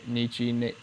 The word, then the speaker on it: Nietzsche: Nietzsche Nietzsche.